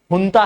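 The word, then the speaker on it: junta: ठीक है, प्रोनाउंसिएशन जुनता नहीं है, हुंता है।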